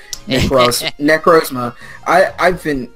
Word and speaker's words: Necrozma: Also, it just occurs to me that I've been saying the name wrong. Necrozma.